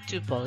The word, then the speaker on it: tuple: A record also called a tuple ya. Rhymes with couple is a set of